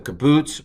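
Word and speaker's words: קִבּוּץ: catefats in some cases the kabutz which is just a uh u and then the sharok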